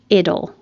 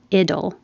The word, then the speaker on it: idle: Idle. The T changes to a D. Idle.